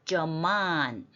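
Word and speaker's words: זְמָן: 그 다음에 자인 밑에 세로점은 이렇게 약하게 읽기 때문에 점만 M 밑에 뾰족한 게 액센트예요. 점만 적절한 때 적절한 시기.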